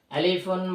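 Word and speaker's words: ألف: যেমন আলিফ, আলিফ উচ্চারণ করার সময় আলিফে কোনো টান হবে না, এটা তাড়াতাড়ি বলে ফেলতে হবে।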